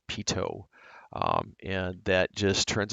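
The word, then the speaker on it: pitot: Then finally, we have the pedo heat. That's pronounced pito.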